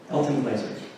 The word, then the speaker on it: Glaser: This is called Art and Nature by Elton Glasser. Glasser's right pronunciation? Glaser? Oh. Elton Glaser.